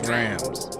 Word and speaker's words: drams: First and foremost, it's pronounced drams, Not drums. not drums.